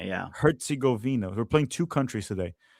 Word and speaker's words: Herzegovina: Herzegovina, yeah. Herzegovina.